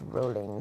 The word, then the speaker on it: Rowling: Rowling was actually it's pronounced rolling cuz they be British.